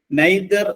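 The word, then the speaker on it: nadir: ആർ അത് ഇംഗ്ലീഷിലേക്ക് കടം എടുത്തിട്ടുള്ള ഒരു വേർഡ് ആണ് നൈതർ എന്നാണ് ഉച്ചാരണം അതിൻറെ അർത്ഥം the lowest point of anything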